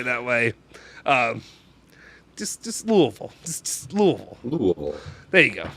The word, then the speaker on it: Louisville: way um just just louisville just louisville there you go thank you that's that's all i'm going to ask there's an s in that word yeah no even in louisville the ass is silent dude joseph says sorry